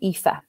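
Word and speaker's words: Aoife: so for example um aoi like in the name ifa when those three come together they're usually an e sound so if you can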